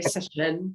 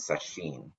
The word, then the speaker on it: sesshin: Do you guys pronounce it? Some people pronounce sesshin. I never know. We say session. Session. Ruben spent 18 years in Japan, so he's very So fluent. so we always said sesshin when I was kind of growing up, but I Yeah, had a Japanese person tell me no, the correct pronunciation is sesshin. yeah. Either is fine. I say session.